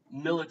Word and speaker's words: Millet: Millet is pronounced Millet, right?